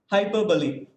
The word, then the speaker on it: hyperbole: it now yes sir how should i pronounce this h y i p s b o l e hyperbole yeah hyperbole even i two was addicted to the pronunciation hyperbole so many of us we have made mistakes but still let us learn from our mistakes and hereafter let us pronounce it as hyperbole hope i am i'm